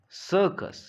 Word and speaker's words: circus: यानी यहाँ पर दूसरे वाले लेटर सी का उच्चारण क होगा। That is वाई it is circus, it is not circus, or it is not circus, right?